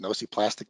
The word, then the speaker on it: nociplastic: I'm sorry, that's pronounced nociplastic pain.